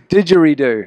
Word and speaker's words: didgeridoo: It's didgeridoo.